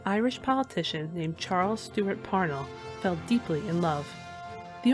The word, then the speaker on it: Parnell: further, in her memoir, Katharine sighed at all the people who said "Par-nell" over "Parnel" as Charles said "Parnel".